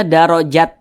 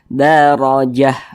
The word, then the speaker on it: darajah: Nah, jangan dibaca darajat, jangan, tapi dibaca darajah, begitu.